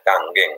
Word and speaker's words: kangen: Ya, tulisannya kangen ya, tapi bahasanya sebenarnya kangen. Itu ya orang Jepang bacanya ang ya di belakang kangen.